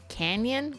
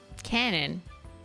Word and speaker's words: canon: I think I'm misunderstanding Canyon Cano Canyon what Canon it's pronounced like the camera brand oh okay I don't